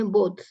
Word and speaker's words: both: Ini bacanya both. Jadi ada haknya ya.